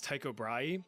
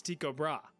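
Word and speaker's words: Tycho Brahe: this guy's name as Taiko Braay, but apparently the proper Danish pronunciation is Tiko Bra. Like, listen to this. Tiko Bra.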